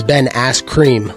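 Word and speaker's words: Ben Askren: pillow hands who's that you said it wrong it's it's Ben ass cream that's the 37-year-old Napoleon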